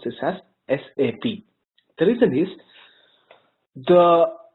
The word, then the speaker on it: SAP: this world of sap is that never ever pronounce this as sap okay never ever pronounce this as sap always pronounce this as sap the reason is the S sap is not